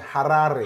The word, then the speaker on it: Harare: You have to say it like the Zimbabwean, Harare.